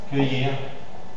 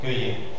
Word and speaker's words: cueillir: c'est bien mais là Roberto tu as le même problème tu tu écrit que lire tu prononces le l mais attention parce que là c'est une graphie de semi-voyen donc cuill voilà cueillir cuillir OK dans le cas de